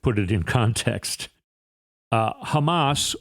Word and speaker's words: Hamas: it in context uh Hamas or as trump pronounces it humus there was a moment